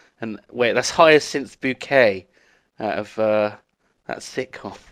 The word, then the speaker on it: Bucket: and upper class that she makes people pronounce it bouquet even though it's spelled bucket.